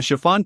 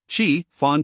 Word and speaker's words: chiffon: A chiffon cake, sensei. Fawn cake?